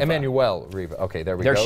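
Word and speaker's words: Emmanuelle Riva: Uh Emanuel Reva. Emanuel Reva.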